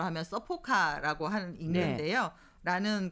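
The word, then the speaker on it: サポカ: 그런 점에서 일본에서 22년부터 도입하고 있는 안전운전 서포트카, 일본어 발음대로 하면 서포카라고 하는 읽는데요.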